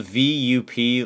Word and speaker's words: VUP: yeah so it's it's it's spelled v-u-p like vup but like they call it V up even though it's spelled